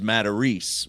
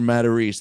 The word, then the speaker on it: Matarese: He's like, it's not a Matarese, that's a Matarese, right?